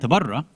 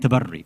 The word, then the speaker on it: tabarri: A lot of stuff on tawalla and tabarra, which is not even the correct pronunciation, by the way, but that's fine. Let people come and mispronounce it and explain those terms as much as they want, right? Because that's what's important. It's tawalli and tabarri, but whatever, it doesn't matter, right?